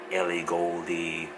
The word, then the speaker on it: Ellie Goulding: Stormzy or Labrinth or Ed Sheeran or um Ellie Goulding.